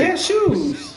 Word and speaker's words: cashew: Cashews? That's how you say it, cashew. Why you dragging that shit like that? I didn't drag it, I just said cashew. It's cashew. Like you sneeze, cashew.